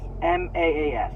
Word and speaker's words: Maas: by Sarah J Mass m-a-a-s that's I I've never heard her last name pronounced so I I just say Sarah J Maas okay um uh basic